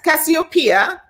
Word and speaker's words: Cassiopeia: i have titiana terenci papora titsiana terenzi cassio cassiopeia is that how you pronounce it yeah that's cassiopeia i have tatia torenzi tabit damn i had